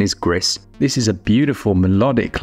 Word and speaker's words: Gris: then with Gris now I originally thought this was pronounced gree cuz I thought it was the French but I believe it's actually the Spanish and I think that pronunciation is GIS this is a beautiful